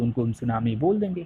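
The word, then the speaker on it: tsunami: T silent रहता है, क्योंकि अभी हमने देखा ना जापान को, जापान में सुनामी बहुत आते रहते हैं,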